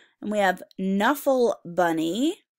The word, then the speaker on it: Knuffle Bunny: W and we have Knuffle Bunny it sounds like an end but what letter does it start with okay because sometimes okay and then in work together cool and it's a silent K and we have Leonardo